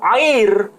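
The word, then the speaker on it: עיר: Tapi kalau kota dalam bahasa Ibrani itu air. Ain, yod, kemudian resh. Air itu arti harfiahnya kota.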